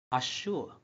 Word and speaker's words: Azure: It sounds like this word should pronounce Azure.